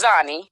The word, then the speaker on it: Xani: up with the name Xenia so it's actually pronounced zie okay um yep yep so I go by zanie I'm from Elizabeth New Jersey born and raised